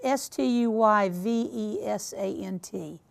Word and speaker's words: Stuyvesant: The correct answer is Peter Stuyvesant, and I know that I am mispronouncing that horribly. It is Stuyvesant.